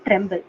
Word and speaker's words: TrEMBL: One is SwissProt, and the other one would be called Tremble. Tremble, which is spelled as TREMBL. Okay, that is Tremble.